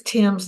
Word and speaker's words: Thames: It's Thames, like the Thames River in England.